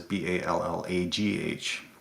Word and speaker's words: Ballagh: But when my ancestors came over, it was Ballagh. So the Ah. Irish Balla, yeah. So the silent G there as well.